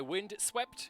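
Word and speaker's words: Vindsvept: Our music is by Wind Swept. It is spelled Vind Svept.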